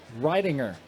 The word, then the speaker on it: Ridinger: Rich Ridinger, as I learned that was the pronunciation, the long I ringer for the psycho car from East Brady, Pennsylvania out there.